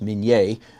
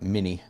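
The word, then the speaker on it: minié ball: then this is a minie ball it's actually pronounced min yay but in America we call it mini this was invented during the Civil War and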